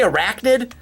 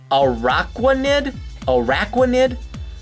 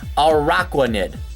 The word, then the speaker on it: Araquanid: Now, I want to see Arachnid, but I feel like I gotta get another syllable in there. So Araquanid. Mine Aqua's in there, so Araquanid.